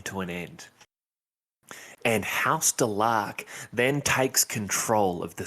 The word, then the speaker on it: Delaque: Now, this is going to be a big one here, because it is pronounced Delaque, and any other way you say it is wrong, and you need to be beaten with sticks.